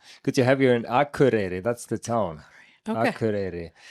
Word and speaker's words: Akureyri: Good to have you here good to have you in Akureyri.